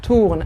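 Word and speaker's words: tournes: tu à la fin ايه ES فاختار ايه tourne à la fin ES وما ننطقش الاس.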